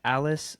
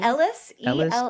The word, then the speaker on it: Ellis: Alice Sconey? Ellis, Elles. Okay. Like, it's pronounced like Ellis Island.